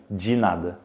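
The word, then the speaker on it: de nada: de 10 ok alors la prononciation correcte c'est dit NAD de rien ginade ok ensuite nous avons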